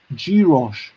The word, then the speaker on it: gyros: Oh, apparently it's pronounced gyros, a Greek meat dish, but you've got the meat replacements version.